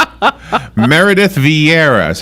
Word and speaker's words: Vieira: Meredith Vieira, is that how you say her name?